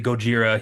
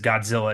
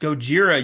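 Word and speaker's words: ゴジラ: gets mad at the way that the reporter pronounces it's supposed to be Gojira he says Godzilla and she's like it's pronounced Gojira you idiot why are you saying Godzilla it's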